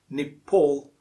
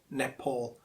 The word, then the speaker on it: Nepal: the correct pronunciation is nepal or nepal not pal it's paul next one in the